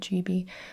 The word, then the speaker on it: Gibi: the gibes now we can stop the the chibies and the gibes and the it's not a big deal it